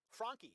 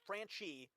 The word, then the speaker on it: Franchi: Franchi is the correct Italian pronunciation of my name. My family changed the pronunciation to Franchi so that it would sound more American.